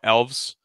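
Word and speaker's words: Aelves: well elves are now elves we just put an A in front but the a is silent that's kind of the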